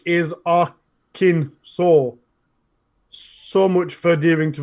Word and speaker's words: Arkansas: Yorkshire hey it goes on yeah the unanimous pronunciation of Arkansas by native Arkham Simpsons and in Interlopers like is Akin saw so much for adhering to the letter of